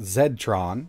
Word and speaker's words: Z-Tronn: out of china called z-tron or in other parts of the world i guess it would be pronounced zed-tron and they reached out